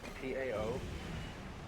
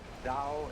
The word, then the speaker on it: Tao: So their principle of nature is called a Tao, T-A-O, pronounced Dao in the Mandarin dialect, Tao in the Shanghai dialect, Good To work.